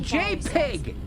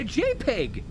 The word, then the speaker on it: JPEG: what the P stands for I call it J Pig it sounds cute to you booger I it sounds j i I call it a JPEG you know what I call it a jpig